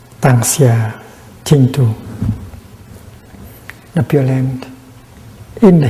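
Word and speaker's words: 當下淨土: And in modern Chinese, it's written it's pronounced Tang Xia Jing Tu, the Pure Land in the here, in the present moment.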